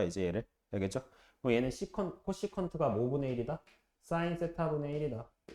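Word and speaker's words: cosecant: 그래서 이게 어떻게 읽냐면 코시컨트야. 코시컨트. C 붙은 거는 코라고 읽으면 돼요. 앞에를 코, 사인.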